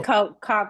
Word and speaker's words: Koch: And she's working for Coke now, and that's not Coca-Cola, but the Koch, I think it's called pronounced Yeah, the Coke.